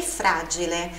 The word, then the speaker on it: fragile: Preziosa e fragile. O G, explosivo.